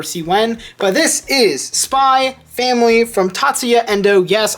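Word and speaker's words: Spy × Family: when but this is spy family from tatsuya Endo yes I don't pronounce the X and spy family I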